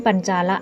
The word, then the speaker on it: ปัญจาละ: หัสดิน บุรี เป็น ราชธานี อ่าน ว่า แขวน ปัญจาละ นี้ มี แคว้น โกศล